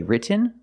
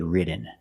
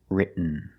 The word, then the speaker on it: written: other example written written so you can say written or written written is more common just don't say written it's written let's look at some